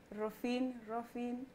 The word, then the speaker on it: Rophine: Darling, how do we pronounce that name? Rophine.